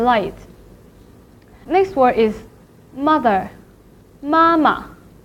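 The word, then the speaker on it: 妈妈: Mama. Mama. Usually in Mandarin, when we talk about the family member, the second syllable will be repeated and marked in a neutral tone.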